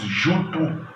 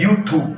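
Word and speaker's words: Jötun: tem a família dos Jutu, que na verdade não é bem Jutu, a pronúncia é Yutu.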